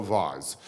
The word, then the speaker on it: vase: example I discovered an incredibly valuable Ming vase which you might call a Vaz um and it must be worth a gazillion pounds and you say to me where is it I say well I have a photograph of it and you say where is the vase or the vas and I say yeah